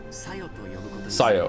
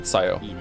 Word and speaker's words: Sayo: I'll follow it too, and from now on, I'll call you Sayo. Okay, so I did say it right. I heard him just say it. Sayo. Not Sayo, Sayo.